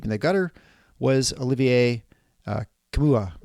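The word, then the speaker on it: Nkamhoua: And so the player that Michigan State had to keep in the gutter was Olivier Kamua. I guess that's Kamwa. How to pronounce it. Kamwa. Sorry, yeah, Kamwa.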